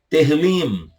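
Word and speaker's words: תהלים: Salmos, no hebraico, Terrilim. Terrilim, para te ajudar aí. Terrilim. Lim. No final você fecha a boca, tá? Terrilim. Não é Terrilim.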